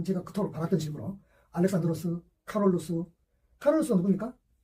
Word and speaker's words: 카롤루스: 그토록 받았던 식으로 알렉산드로스, 카롤루스가 누굽니까? 칼 대제라고 이렇게 많이 했죠. 좀 편하게 말해서 이제 노땅들. 그러니까 본인들이 생전에 불렸던 이름으로. 그러니까 카롤루스란 말 자체는 이제 라틴어식 뭡니까? 발음이죠. 실제로 그렇게 불렸어요.